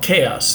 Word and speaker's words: KAOS: a quick review of a Netflix show called chaos it's spelled k a oos it is a um